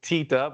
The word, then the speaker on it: Teta: We pronounce it Tita, but I have been made aware that it is Teta in Spanish.